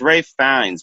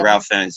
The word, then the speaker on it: Ralph Fiennes: It's Rafe Fiennes, but it says like it's Ralph, but it says I guess you're supposed to pronounce it Ralph Fiennes.